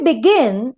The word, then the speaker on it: begin: When you say begin, you realize that begin is longer, louder, and higher.